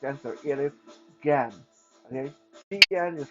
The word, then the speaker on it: Gen: It is Gan. Okay, Gen is pronounced Gan. In Mandarin, anytime you come across the letter G, the pronunciation is g, g.